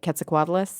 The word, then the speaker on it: Quetzalcoatlus: Maybe they've heard of, tell me if I'm pronouncing it right, Quetzalcoatlus?